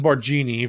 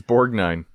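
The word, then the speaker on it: Borgnine: His last name ain't Borgini. It's Borg Nine.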